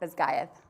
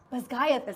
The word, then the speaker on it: Basgiath: So I say it's Basgiath. Basgiath. Oh my gosh, I was totally off. I said Basgiath. And that's a more Gaelic pronunciation. So that can be right. I say Basgiath because of just how I constructed the words.